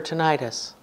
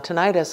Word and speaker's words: tinnitus: tonight I'll say tinnitus sometimes they say tinnitus westcoast people tend to say tinnitus it doesn't matter how you say it if you really were living in the time when the term was developed you should say tinnitus because it's Latin it means bells ringing